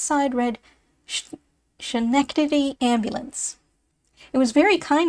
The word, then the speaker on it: Schenectady: Already it has been called everything from Schenectady to Skinnecadiddy.